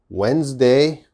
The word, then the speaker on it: Wednesday: one okay this one's a little difficult wednesday wednesday okay what's the problem now wednesday has a